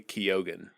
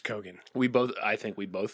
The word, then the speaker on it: Keoghan: It's Barry Keoghan. Barry Keoghan? That's how you say it. Huh. I definitely thought it was Kogan. I think we both thought it was I think Kogan. I also thought it was Keegan at some point.